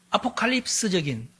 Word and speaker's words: 아포칼립스: 제가 인터넷에서 쳐 보니까 무조건 아포칼립시스라고 읽어야 된대요. 근데 아 너무 불편해. 알파벳을 보니까 아포칼립스 하면 될 거 같아서이 단어를 구글에 쳐 놓고 발음해 봐라. 그러니까 아포칼립스 이렇게 발음하는 봐라. 봐라. 아포칼립스다. 근데 아포칼립시스로 쓰고 아포칼립스라고 읽으라. 읽으면 된대요. 영어 발음이 그런 그럽니다.